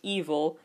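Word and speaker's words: EVOL: baby always behind you EV o l pronounced evil and it stands for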